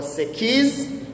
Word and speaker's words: sekiz: Namba nane utamkwa sekiz.